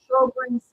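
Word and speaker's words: Sjögren's: This disease is pronounced Sjogren's syndrome.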